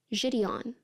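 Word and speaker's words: JiDion: that even know how you say his name jidon jidon sorry I mispronounced hate raate we have a name we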